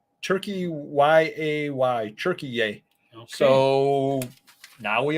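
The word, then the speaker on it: Türkiye: that stuff and it now they're pronouncing it turkey yay turkey y-a-y turkey yay so now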